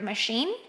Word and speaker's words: machine: some examples for example the word machine and according to this the stress or the strongest syllable is the second one in detergent will be